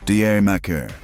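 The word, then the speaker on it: D'yer Mak'er: Number six, Led Zeppelin, Deier Mccer. A title that's a punchline. Say it like Jamaica and a track that plays dress up with reggae while keeping a doo-wop heart.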